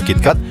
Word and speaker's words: KitKat: Pelafalan KitKat bagi orang Jepang mirip dengan kata kitokatsu yang berarti pasti berhasil atau pasti menang.